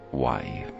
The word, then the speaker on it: wai: In the language of the ancients, it's pronounced wai. Wai meaning water.